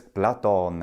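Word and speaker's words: Platon: it Plato oh you it is in fact Plato in Latin and that is from the ancient Greek Plato that final end the Romans are like Ah that's too much too much work I don't want to deal with that so they got rid of it and it's just in Latin but it's blaton in ancient Greek and it means broad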